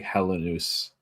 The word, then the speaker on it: Helenius: I always thought it was Helenius. I I listened to the Amir's pronunciation guide last night and he does say like Helenus. Helen, but he like has like a little bit of a eye before the U for the part.